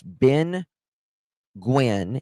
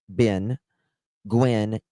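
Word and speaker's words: Binh Nguyen: Okay, it's Ben Gwyn. And it's spelled I swear to you. B I N H Ben Gwyn. N G U Y E N.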